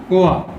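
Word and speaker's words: Å: It's pronounced OA, or phonetically O with a colon, which means stream or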